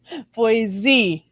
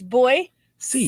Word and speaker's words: Boise: same thing almost almost boise boyz voice c as in boy i ain't got a z in it no it's boy c c as in c